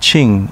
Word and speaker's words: Kin: beautiful beaches and manzamo kingtown pronounced ching in uchinaguchi is the birthplace of